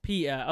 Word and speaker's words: PETA: So it's pronounced PETA.